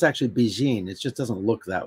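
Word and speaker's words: Bigen: black it is a Japanese henna uh it's pronounced actually Beijing it just doesn't look that way it if you look at it you're gonna say begin but it's Beijing which it means pretty young lady in Japanese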